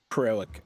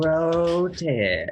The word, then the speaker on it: Crotek: these crazy sisters and Croak. No, Croak's not right. I'm going to say it wrong every time. Crotek.